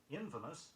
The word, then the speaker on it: infamous: Infamous, I-N-F-A-M-O-U-S, meaning of evil repute, is often incorrectly stressed.